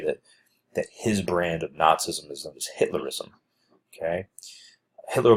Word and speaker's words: Nazism: I know you might be thinking isn't it pronounced Nazism nope it's pronounced Nazism okay now it's a combination of a lot